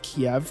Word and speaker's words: Kiev: of Ukraine pronounced as Kiev which is the Russian pronunciation Kiev is the Ukrainian